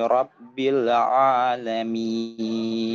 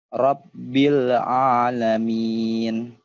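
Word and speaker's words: رب العالمين: Rabbil Alamin. Gimana kira-kira sudah enak? Sudah nyaman? Bagaimana menurut Ustaz? Rabbil Alamin. Rabbil Alamin. Bil'a. Ya, jangan ngambil A-nya keduluan, Pak. Jadi gini, Rabbil Alamin, ya.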